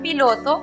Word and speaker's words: pilot: La siguiente sílaba, lot, es cerrada porque termina en consonante. Por lo tanto, aplicamos el sonido cerrado de la vocal o igual que en español. La pronunciación para la palabra piloto entonces es pilot.